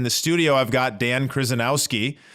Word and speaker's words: Kryzanowski: I've got Dan Kryzanowski. How are you doing, Dan? Wonderful, Stephen. And brownie points for saying my name correctly so early in the morning.